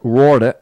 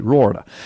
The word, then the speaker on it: Roorda: when it'll be in bookstores everywhere but Jeff rauda is the uh author and by the way his last name is spelled in case you want to look him